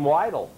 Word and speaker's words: Weidle: No, just Weidle. Weidle. And actually, this pronunciation kind of camouflages the spelling.